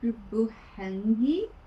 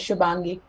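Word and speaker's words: Shubhangi: Hello, Shubuhangi. If someone could pronounce it perfectly, please let me know. Thank you. I blame my parents. You're absolutely fine. It's pronounced as Shubangi.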